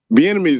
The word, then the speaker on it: Bieniemy: Bieniemy's name rhymes with the enemy.